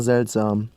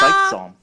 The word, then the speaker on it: seltsam: seltsam, could also be seltsam. Here we see that in Bavarian, the S is voiceless. It's not pronounced Z as in Standard German.